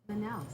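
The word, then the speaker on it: Manaus: Manouse. Manouse. So, it's pronounced ma manouse.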